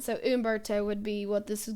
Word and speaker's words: Humberto: It's not Humberto for anybody that was wondering. I think it's Humberto. The H is silent, so Humberto would be what this is going to be called.